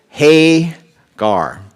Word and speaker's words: Hagar: the proper pronunciation is Hagar. The emphasis is on the hay and gar.